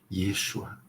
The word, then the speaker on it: Yeshua: Buscamos a pronúncia correta, Yeshua, Yeshua.